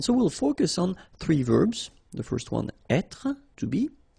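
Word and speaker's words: vert: So masculine form you don't pronounce the final t feminine form ver. So listen carefully. I don't say t but it's t ver.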